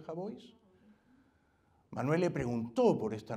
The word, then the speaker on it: Jabois: un periodista del país Manuel jabois se pronuncia jabois Manuel le preguntó por